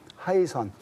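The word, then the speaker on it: 海神: 그러니까 남동쪽에 있습니다 그래서 이 하이 선 바다의 시라는 중국 발음으로 해신 우리 한글로 해 신인데 하이 선 어 이게 어 6일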